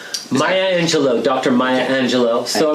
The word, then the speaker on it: Maya Angelou: And I hope I can pronounce this name correctly. Maya Angelou? Maya Angelou, Dr.